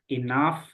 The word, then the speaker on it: enough: gimana enough enough enough nah GH ini u GH ini dibaca AF jadi kayak gitu ya Eh enough CF kayak gitu oke